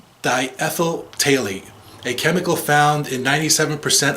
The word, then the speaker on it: phthalate: Examples include diethyl phthalate. It's with a P, I think, but I think the PH is silent. Diethyl phthalate, a chemical found in